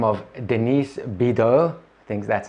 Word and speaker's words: Bidot: a plus-size model by the name of Denise bitter things that's how you say it and how